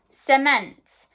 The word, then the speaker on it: cement: i can see that my c is followed by an e so it's made the s pronunciation cement okay the next word